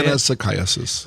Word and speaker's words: Anisakis: How do you say Anisakis.